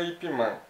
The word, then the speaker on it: Ip Man: Na China se pronuncia Ip Man, porque o Man é sobrenome, não é o Man de Man, de homem, né? É Ip Man, o sobrenome dele, Ip Man.